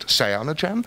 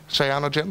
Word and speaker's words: Cyanogen: I'm not sure how you pronounce it, but I'll pronounce it Cyanogen.